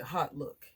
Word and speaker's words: Hautelook: and i guess also known as i'm gonna pronounce it hot look h-a-u-t-e-l-o-ok so i saw a great deal on